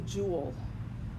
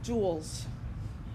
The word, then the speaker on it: Joule: of energy is the Joule it's spelled kind of funny it's that named after scientist jou le pronounced jewel like a jewel in a crown and the abbreviation is